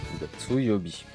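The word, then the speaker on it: 月曜日: Gatsu Yobi.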